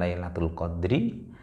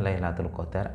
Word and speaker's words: Lailatul Qadar: Nah, kemudian disebutkan lagi ada Lailatul Qadar. Dua-duanya boleh. Satu diambilkan dari ayat Al-Quran Lailatul Qadri, lalu kemudian orang Jawa, orang Indonesia mudahnya membacanya Lailatul Qadar, atau dalam bahasa Arab pun juga sering dimaknai bukan Qadrun tetapi dengan Qadar.